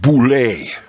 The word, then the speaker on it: Boule: the French paleontologist marceline bull reverse pronounced boule concluded that Neanderthals walked